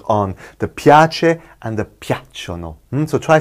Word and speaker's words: piacciono: And piacciono, they are pleasing. Capito, ragazzi? Those are the two we will be working on. The piace and the piacciono.